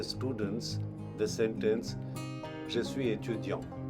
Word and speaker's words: étudiant: The first day itself, when we teach the students the sentence Je suis étudiant, the pronunciation we get for the word student is étudiant, étudiant.